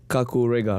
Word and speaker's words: Kakurega: stage performance stage performance right uh the titled Kaku Riga right yep do you pronounce it right yeah kakure is actually a